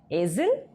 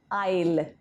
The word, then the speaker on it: aisle: ये वर्ड है AISLE, इसको क्या बोलते हैं हम? एजिल? नहीं, इसका प्रोनाउंसिएशन है आइल, आइल।